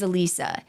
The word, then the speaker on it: Alisa: of Betty Gore's daughter in those podcasts was pronounced Alisa and I'm not going to like Drop names or whatever in case they mispronounce it I'm not trying to blame someone else it is my fault it is Alisa after we recorded all